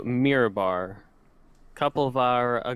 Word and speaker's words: Mirabar: out to is it is it pronounced mirror bar mirror bar mirror bar yeah i'm gonna be heading out to mirabar a couple of our